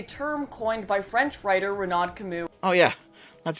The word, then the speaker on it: Renaud Camus: The Great Replacement is a term coined by French writer Renaud Camus. Oh yeah, that's how you pronounce the name.